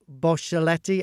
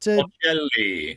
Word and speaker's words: Bocelli: He's said Andrea Bocelletti. How do you say it? Bocelli.